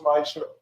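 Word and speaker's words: מעשר: Means 10 in Hebrew, and it's pronounced Ma'asher.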